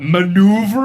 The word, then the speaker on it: maneuver: I know like oeuvre, you know, when you're saying like this is of someone's oeuvre, BUT MANEUVER? WHAT? HOW DO YOU SPELL IT?